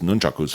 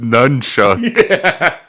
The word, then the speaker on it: nunchaku: had just performed his nunchaku's form. And after dismissing him off to the side with a mutual bow while screaming, "It's pronounced nunchucks."